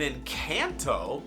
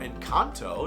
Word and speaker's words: Encanto: talking about a cocoa an Encanto or in Kanto depending on up here to pronounced both ways and a Disney villains